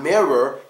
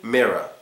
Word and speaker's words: mirror: word the last syllable so it's not mirror it's supposed to be mirror mirror when you look